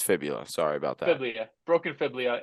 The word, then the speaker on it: fibula: a broken fiblia it sucks how do you pronounce that geophibia there we go broken fibia broken it's fibula sorry about that broken fiblio and that sucks